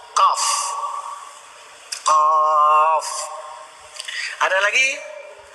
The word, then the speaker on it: Qaf: Misalnya Qaf. Qaf. Bacaannya pun harus kita tanya kepada guru ngaji kita. Nyok gimana baca? Qi lah baca. Bahasa Arab Qi juga boleh. Ada artinya juga Qi. Tapi disuruh baca Qaf.